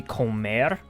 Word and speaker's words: comer: So it's the same as the Spanish word.